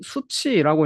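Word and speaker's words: SU7: 샤오미 su 7이란 모델인데 이걸 또 중국어로 하면은 샤오미 수치라고 읽더라고요 차가 좀 어디서 많이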